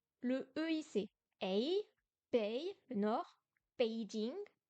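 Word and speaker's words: 北: Le EI, c'est Ei, Bei, le nord, Beijing. On peut penser à Beijing pour se souvenir de Bei.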